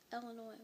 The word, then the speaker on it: Illinois: And number 6, Illinois, which I will never for the life of me understand why it isn't pronounced Illinois.